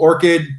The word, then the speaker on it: Orchad: We're called Orchid, but it's spelled with an A, Orchad.